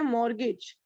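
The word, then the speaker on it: mortgage: तो इसको कहते हैं मॉर्गेज. टी साइलेंट रहता है.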